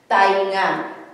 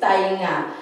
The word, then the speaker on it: tainga: This is the original or formal spelling of ears, tainga. But when we say it, when we pronounce it, or sometimes when we write it down, we spell it like this. It's like tenga.